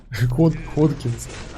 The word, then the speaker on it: Hodgkin: Hodgkins. People said that he should be pronounced Hodgkin.